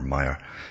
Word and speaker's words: Maher: I generally pronounce it Maher or Maher, but it's Bill Maher, it's pronounced.